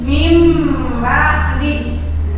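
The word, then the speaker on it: مِنْ بَعْدِ: Mi kan ditulisnya ini Nah Min ba'di tapi dibacanya jadi mim ba'di selanjutnya ada tanwin menghadapi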